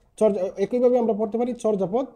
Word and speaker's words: চর্যাপদ: গেল ঠিক আছে একই ভাবে আমরা পড়তে পারি চর্যাপদ চূরজাপদ ঠিক আছে আমরা একটু আগে কি বলেছিলাম যে